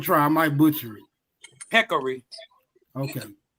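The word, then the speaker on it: peccary: Let's kill these Now, I don't know how to pronounce this word, but I'mma try. I might butcher it. Peckery. Okay. Peckery.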